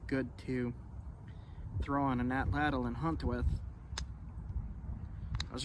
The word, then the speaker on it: atlatl: to throw on an atlatl and hunt with. I was recently told that the correct way to pronounce atlatl is atlat.